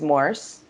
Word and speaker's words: Morse: pronounce her r's and my last name is morse like morse code and when she tried to say it it ended up sounding like moose so all my teammates just